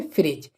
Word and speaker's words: fridge: तो यहाँ पर भी देखें जो जी से पहले क्या है, डी, तो डी क्या हो जाएगा, साइलेंट, ठीक है। तो इसके लिए क्या पढ़ेंगे, फ्रिज।